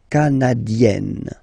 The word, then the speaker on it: canadienne: Remember, here you've got double N, so you get to open the so it will become canadienne.